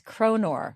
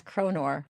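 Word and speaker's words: kronor: one of those and I looked up the plural and it's konor so I'm not mispronouncing it it really is konor now despite her exhaustion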